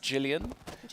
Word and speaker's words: Gillian: the mix now it's it's written gillian gillian but i i believe it's pronounced jillian like the um english uh yeah like jillian anderson for example um so it's jillian